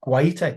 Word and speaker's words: Guaita: Guaita, you must like that. That's a bit of class pronunciation there.